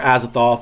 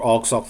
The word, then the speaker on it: Azathoth: azithoth uh and um or azathoth or alks off both different ways of saying them uh i i think i read vk johanna pronounces it all sock both um and then